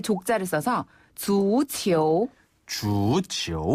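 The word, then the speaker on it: 足球: 거잖아요 발 족자를 써서 주치 주치 한 번 더 주치 주치네 이때 주는 발 족자를 중국식으로 발음하면예요 주네 그리고 공을 뜻하는 치는 주 치오 이렇게 해서 축구가 되는 거죠 아 주치네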